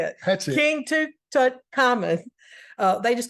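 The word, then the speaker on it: Tutankhamun: King Tut Tut Tut toon tonan no T Tuton common that's how you say it King to tut common uh they just call him King Tut we're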